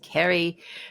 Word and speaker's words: Ceri: So she has an Irish way of spelling Ceri, which is Ceri. And before I had spoken to Ceri, I'm looking there going, is it Cherry? Is it Ceri? Well, how do we pronounce this? But it's just Ceri.